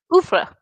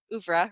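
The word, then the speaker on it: oeuvre: Is it the French word? Yes, it's a French word. Ufra. Uffra. Okay. Probably that's how you say it in French.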